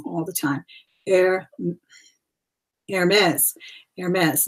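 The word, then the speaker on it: Hermès: the time air AES Aires not a ma Aires the H is silent okay it's a prestigious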